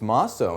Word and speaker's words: Mosso: It's Mosso, and thank you for asking. Mosso. If I butchered...